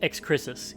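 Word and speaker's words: Excrisus: uh by the way correction it is not Cadmus uh what is it it's ex chrisis e ex c r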